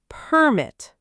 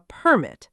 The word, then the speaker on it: permit: When the word is a verb, the stress is on the second syllable. Let's run through some examples together. Permit, noun, a permit, a piece of paper that gives you permission.